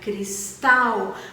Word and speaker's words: Cristal: era tec é porque não era cristal era cristal o acento forte o dinheiro na segunda sílaba por exemplo né então